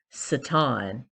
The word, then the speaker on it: Satan: personification known as satan though the actual pronunciation would be satin more appropriately in the ancient hebrew the satan so the satin was